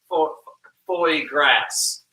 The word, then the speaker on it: foie gras: That's foie grass. Did I say it right? Foie grass? I don't know how to say it. I might have too much spinach. I don't even try to say it correctly, because then if I try to say it correctly, it just is more embarrassing for me. Frog grass? What I was talking about is foie gras.